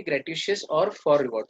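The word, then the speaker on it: gratuitous: नॉन ग्रेटिशियस, इसमें श कहीं भी नहीं है, SH, पर आपको मालूम है ऐसी बनती है प्रोनाउंसिएशन।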